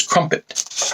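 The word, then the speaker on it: Crumpit: The mountain known as Crumpet, which of course rhymes with dump it.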